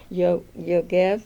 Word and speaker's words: Yogev: And I'm very fortunate to have David Yogev. Is that the right pronunciation?